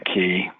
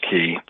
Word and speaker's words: Caye: Transportation on the Caye, they're spelled C-A-Y-E. It's pronounced Key.